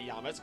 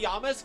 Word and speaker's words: Yamask: yisk or yam mask I'll say it right for you but yamus sounds better on my mouth tongue lips thing um I talk like an alien sometimes my gosh but maybe Yamask doesn't actually carry the